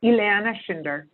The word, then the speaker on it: Ileana Schinder: like debate a little bit about density so pronouncing your name so is Elana right Elana shinder okay Elana shinder okay and you are from